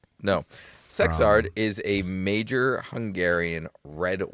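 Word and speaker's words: Szekszárd: And it's actually pronounced sexard.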